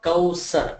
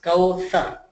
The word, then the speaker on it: Kawthar: So it's not Kawsar, it's Kawthar. Thar. Can anyone do it? Kawthar. See, my tongue is touching my upper teeth.